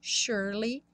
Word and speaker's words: surely: Surely, o S tem um som de X, e o E do meio não é pronunciado.